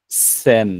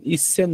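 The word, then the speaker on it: 千: সান বলব আমরা আমরা 1000 কে বলব যে শুধুমাত্র সেই ইসন বলবো না আমরা শুধুমাত্র সেন বলব আমরা শুধুমাত্র কি বলব সান বলব ইসান বলব না ইসন শব্দটা অড শোনায় জাপানিজরা এটা শুনলে ওরা হাসে ইসন বলা যাবে না হচ্ছে শুধুমাত্র বলব সে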